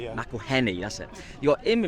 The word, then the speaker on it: McElhenny: I spell it. Say his Rob name. McElhenny. Yeah. McElhenny, that's it.